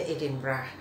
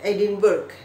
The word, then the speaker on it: Edinburgh: Kemudian Scotland ibu kotanya Edinburgh. Ada cerita lucu nih teman-teman. Dulu saya tuh waktu belum tinggal di Inggris, saya membacanya Edinburgh gitu, Edinburgh gitu kan. Katanya setelah di sana, oh bacanya Edinburgh ya, Edinburgh.